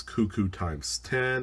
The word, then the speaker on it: KooKooX10: My username profile is Cuckoo times 10, and that's spelled KOOKOOX10, like a cuckoo clock, only with K's.